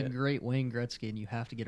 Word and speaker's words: Wayne Gretzky: great Wayne Gretzky, and you have to get it right. I don't even know who Grain Wetzky is. Wayne Gretzky.